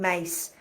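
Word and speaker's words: Myss: that um yeah Caroline mace so it's m y SS but it's spelled with like a c mace as in mace mace spray pepper spray yeah yeah self- sabotage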